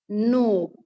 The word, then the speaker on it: knob: यहाँ के जो साउंड है वो साइलेंट है. यहाँ के क्या है? साइलेंट है. इसमें के की साउंड नहीं आएगी. सिर्फ क्या बोलेंगे हम? न, ओ, नो. के एन. जब भी के और एन वर्ड होता है, जब जॉइंटली आता है, इकट्ठा आता है, तो हम उसमें के की साउंड क्या करते हैं? साइलेंट करते हैं. उसमें के की साउंड नहीं आती है, सिर्फ एन की साउंड आती है.